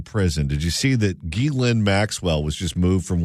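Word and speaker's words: Ghislaine: did you see that Gilin Maxwell was just moved from one facility to another? I'm so glad you pronounce it that way and not the way that Jillian used to pronounce it.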